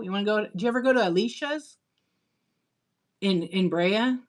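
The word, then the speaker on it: Alish's: It's called Alicia's. It's spelled exactly.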